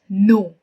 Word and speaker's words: know: i can talk about no k-n-o-w k is silent so we use it as no i want to know